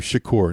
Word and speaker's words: Shakur: have to go rescue Shakur now we can't we can't go any further without mentioning the fact that the doctor's name is Shakur and absolutely pronounced and probably spelled like Tupac Shakur so all throughout the